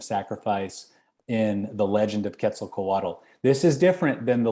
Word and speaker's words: Quetzalcoatl: For the story of Quetzalcoatl, I think that's how you say it.